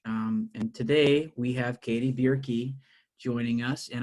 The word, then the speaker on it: Bjerke: And today we have Katie Bjerke joining us. And I know I got that pronounced right because she said beer is key.